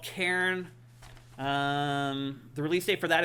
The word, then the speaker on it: Cairn: Cairn, not Karen. Yeah. Cairn. Cairn. Yeah. Karen it's would one be, syllable. Karen would be if she's climbing the mountain to talk to the manager. Yeah. No, it's just Cairn. It's one syllable.